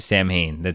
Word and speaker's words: Samhain: Because even in Samhain and Samhain's, and that's how you actually say the band name Samhain. I know it's spelled S-A-M-H-A-I-N. Yeah. And people say Samhain or whatever, but the band itself calls it Samhain.